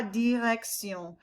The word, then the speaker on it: direction: It's not shun, it's sion. La direction.